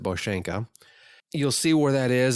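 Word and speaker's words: Bosanka: the boshenka overview so if you look at the map and type in bosenko it's b-o-s-a-n-k-a but they pronounce it boshenka you'll see where that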